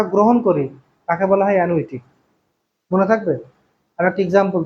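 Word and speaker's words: annuity: দেখ, ধরো হবে অ্যানুইটি, অ্যানুইটি, আছে অ্যানুইটি, উচ্চারণটা হচ্ছে এরকম, অ্যানুইটি, এর বাংলা হচ্ছে বৃত্তি।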